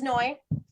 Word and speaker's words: Noy: they work so effectively my name is Noy it rhymes with joy and I hope that